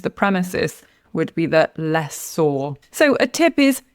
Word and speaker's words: lessor: So, the answer is lessor. A tip is to stress the first syllable.